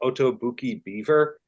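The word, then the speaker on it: Otoboke Beaver: so much uh oh I think it's pronounced otobuki beaver and they did this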